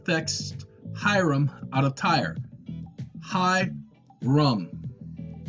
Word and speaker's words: Hiram: Hyrum out of tire hi rum that's how it is pronounced okay and we have